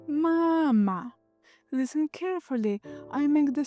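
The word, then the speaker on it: мама: Here the stress is on the first syllable. Mama.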